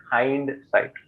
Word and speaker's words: hindsight: So the word you're looking for is hindsight. Okay. Hindsight, HINDSIGHT. Yes. So it's not Hind. Hind is the pronunciation for like Hindu, Hindustan, right?